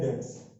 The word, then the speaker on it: debts: देता है वो बेड डेट्स, यहाँ पे बी साइलेंट होता है, DEBTS, डेट्स, बेड डेट्स